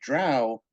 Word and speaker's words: drow: I'm so sorry it's it's Hooked on Phonics b-r-o-w brow d-r-o-w drow I'm so sorry I